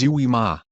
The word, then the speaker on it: UIMA: Unstructured Information Management Architecture, or UIMA, pronounced as UIMA, is an open-source development kit donated by IBM to the Apache Foundation and is downloadable from the Apache Foundation website.